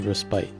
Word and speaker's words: respite: pronunciations for this word in British English it is either said as respite with an emphasis on that second pite syllable maybe it's like a